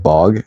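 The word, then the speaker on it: Bogge: do you say that how do you say that word bog like bog oh like okay we call it the bog okay okay you cannot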